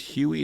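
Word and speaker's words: Huie: I'm not mispronounced yes I think it's Huey it's hu ie and she's written an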